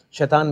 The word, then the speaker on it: शैतान: Shaitan is endearing. Shaitan means like little devils, little monsters.